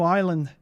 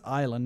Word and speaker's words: island: We got to find new island. I think that was closer to Australian. Oh yeah, that's another thing. It's pronounced island, not Islan.